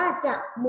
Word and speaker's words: จมูก: ค่ะ อย่า นะ คะ จมูก อ่าน ว่า จะ หมู่ เห็น ไหม คะ ออก